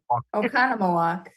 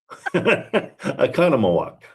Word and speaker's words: Oconomowoc: Oconomowoc. Economowalk.